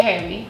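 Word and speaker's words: jeve: Se escribe J-E-V-E. Como heavy.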